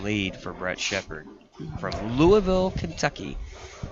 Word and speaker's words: Louisville: for Brett Shepard from Louisville Kentucky Louisville however you want to say it most people say Louisville is wrong well Louisville I'm not even sure if there's two syllables in it and he makes the